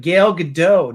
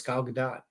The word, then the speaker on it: Gal Gadot: you know pronouncing her name right no one pronounced their name right her name's not it's it's it's five letters yeah but gail gadot no it's gal gadot yes well she says it so it's not